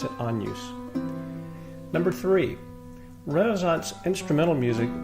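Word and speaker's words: Agnus: unused AE it looks like Agnes but we pronounce it on use number three Renaissance instrumental music was intended for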